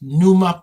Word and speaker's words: Pneuma: NUMA podcast as in pneumatic.